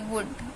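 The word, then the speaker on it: would: है शुड हम बोल रहे हैं तो एल साइलेंट हो गया अपने आप ऐसे वुड एल के बाद डी आ रहा है तो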